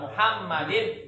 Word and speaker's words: Muhammad: Ala Muhammadin. Ya. Ala Muhammadin. Mimnya yang bertasdid. Jangan Muhammad, tapi Muhammad.